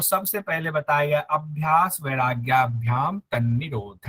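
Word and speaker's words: वैराग्याभ्याम्: सही सही अभी तक एक भी नहीं आया शुद्ध उच्चारण के साथ। अभ्यास वैराग्याभ्याम। हाँ तो वैराग्याभ्याम। वैराग्याभ्याम। अभ्यास वैराग्याभ्याम, वैराग्याभ्याम, यस। ध्यान, हाँ, अभ्यास वैराग्याभ्याम। देखिए बिंदी है, भ्याम, वहां ऊपर बिंदी है, ध्यान नहीं है।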